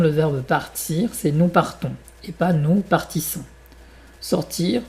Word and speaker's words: partons: Par contre, nous prenons, nous partons, c'est pas nous partissons.